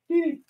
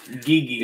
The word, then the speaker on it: Didi: Didi. I believe it's pronounced Gigi. It is not.